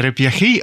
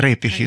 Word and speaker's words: репіхи: Ще наголос у деяких словах інший трошки. От, наприклад, ми чули таке слово у розповідях «репіхи». Так? Не «реп'яхи», а «репіхи» саме. Тобто це теж важливо. Ми бачимо, що це приклад того, що у місцевих говірках дуже часто зміщуються трошки наголоси, і це теж може відрізняти говори місцеві.